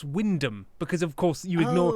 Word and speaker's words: Wymondham: Just ignore the central third of the word, because why wouldn't you?